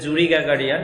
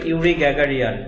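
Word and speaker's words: Yuri Gagarin: After the flight of ইউরি গ্যাগারিয়ান, আমরা যদি বাংলায় বলি তাহলে আসবে জুরি গ্যাগারিয়ান, কিন্তু ইংরেজি উচ্চারণের ক্ষেত্রে এটা আসবে ইউরি গ্যাগারিয়ান।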